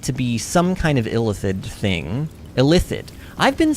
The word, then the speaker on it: illithid: I hate that word, because really, I feel like illithid rolls off the tongue better, but the game says it illithid. Which to me just sounds like the word illicit. Illicit and illicit, illithid and illicit sound way too similar.